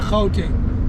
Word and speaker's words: Gauteng: Out there, you pronounce it out there. Yeah, Gauteng, meaning place of gold.